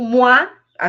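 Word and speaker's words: moi: Se você tiver fora do contexto, ela fala assim: "Moá, eu ou mo a ve s. Então m o i moa eu m O i s.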